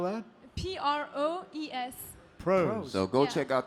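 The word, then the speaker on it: Proes: How do you spell that? P-R-O-E-S. Pros.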